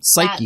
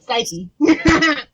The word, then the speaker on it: Cyke: No, Psyche. No, because it's a silent E, because you're making it a long I sound in the Y.